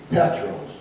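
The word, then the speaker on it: Πέτρος: that jesus used in the greek peter is petros and it's spelled capital p e-t-r-o-s in the in the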